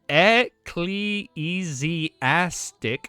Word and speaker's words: ecclesiastic: It's pronounced ecleesastic who was an inconstant patient and half collapsing cathedral.